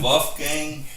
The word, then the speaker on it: Wolfgang: How do you spell that? WOLF. WOLF. GANG. Oh, Wolfgang. Okay. Yeah, Wolfgang. They call it Wolfgang?